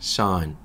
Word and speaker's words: son: son, sun처럼 읽으시면 돼요.